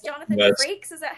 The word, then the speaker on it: Frakes: I think it's Jonathan Frakes. Is that how you pronounce it?